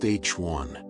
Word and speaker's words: HI: Hi, pronounced H1 refers to neutral hydrogen gas.